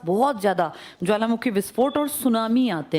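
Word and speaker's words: tsunami: इसके आसपास बहुत ज़्यादा ज्वालामुखी विस्फोट और सुनामी आते हैं। सुनामी किस भाषा का शब्द है? हाँ, इसमें टी साइलेंट है, सुनामी लिखते हैं, ये पूछ लेते हैं बहुत बार।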